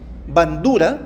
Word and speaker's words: Bandura: Bueno, Bandura, seguramente ustedes se han encontrado con Bandura, tal como se escribe bandera, pero Bandura, la teoría del aprendizaje social.